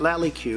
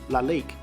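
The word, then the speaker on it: Lalique: definitely sweet so my wife tells me that loudly q is actually pronounced la lique and is a very famous french brand it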